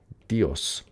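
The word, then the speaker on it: Διός: But in fact in Greek it it if they knew Zeus starts with a delta. Dios. It's like a D. It's It's not a Z sound.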